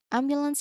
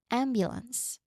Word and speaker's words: ambulance: Ambulance again, you um emphasize on the first syllable ambulance. There's awasan at the second and third part. Basically, what we mean with this is that there's a short in quick um a sound there.